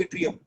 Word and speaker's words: yttrium: That what is it pronounced and named? Boron, aluminium, gallium, indium, scandium, yttrium. Group 3 is scandium, yttrium.